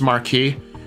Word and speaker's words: Marquis: They keep saying Marquis, which pronounced Marquee. Yeah, it you're right. with uh it should be pronounced marquee, but it's like they're